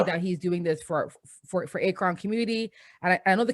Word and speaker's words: Akron: it's Akron.